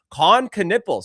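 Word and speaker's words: Knueppel: Coniple. See, I can actually pronounce Con Canipple.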